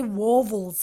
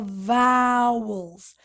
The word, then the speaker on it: vowels: group of letters vowels please pronounce together with me here Val's many students say waffles or something like that no no no vowels now look how many